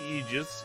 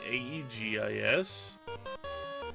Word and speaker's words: aegis: have an aegis shield even though it's spelled ae zis i'm pretty sure that's a translation error misspelling it probably should be aegis aegis because of all the